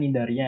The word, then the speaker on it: Cnidaria: Bacanya Nidaria, ya, C-nya nggak usah dibaca gitu.